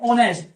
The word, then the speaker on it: honest: एक और देखिए, ऑनेस्ट, HONEST। इसमें भी एच साइलेंट है, ओ का साउंड यहाँ पर ओ है, ऑनेस्ट आ गया ना।